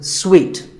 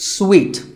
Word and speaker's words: suite: A related word is suite. This means a set of connected rooms in a hotel, and this is wrongly pronounced by many people as suit, but it's sweet, like when you eat a piece of candy, sweet.